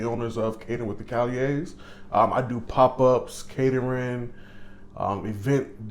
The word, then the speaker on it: Callier: Callier? Yes, sir. Somebody else say Callier. No, sir. Callier.